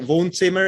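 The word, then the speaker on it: Wohnzimmer: name is voon simmer it's like von zimmer it's a german name for living room but they misspell it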